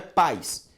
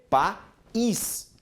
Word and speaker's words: país: Porque a pronúncia do I agora é forte, não é paz, é país.